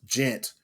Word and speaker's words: djent: But then this quote unquote new subgenre, spelled DJent, pronounced gent, came along and they threw them into that category, and they're like, "We're not gent."